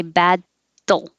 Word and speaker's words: battle: you can just battle there's two ways to do it you can say bad doll you just quickly move your tongue from the d position put it down and put it right back up again because you need to